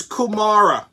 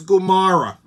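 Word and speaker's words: comare: she said it wrong hello his kumara it's gumara it's like nails on a chalkboard but all these non-guineas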